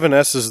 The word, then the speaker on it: Sssssss: you I believe it it's supposed to be pronounced s but that's stupid Hey slim Pickins made